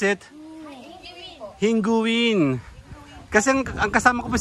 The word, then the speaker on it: Hinguiwin: How you pronounce it? Hinguin.